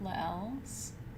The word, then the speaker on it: Lael: L S, because I tried to mirror the B with Lael's. Oh, Lael, like sail.